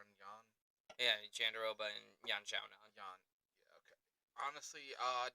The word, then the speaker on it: Yan Xiaonan: Yeah, Jandaroba and Yan Xiaonan. Jan. Yeah, okay. Honestly, names often mispronounced by me.